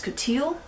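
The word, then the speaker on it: coutil: that rent threaded recommends the other option is coteal which is spelled c-o-u-t-i-l it is an extremely uh taut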